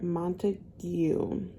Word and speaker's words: Montague: a few pages is we're following um Dr Montague that's how you say it um he's a